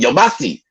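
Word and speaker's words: Yamasee: family the yamasi okay that's how you're pronounce it yamasi okay so down there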